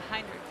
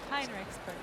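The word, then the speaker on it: Heinrichsberger: I was saying it wrong. Right. There was an E in there. I didn't know it was there. HEINREICHSBERGER.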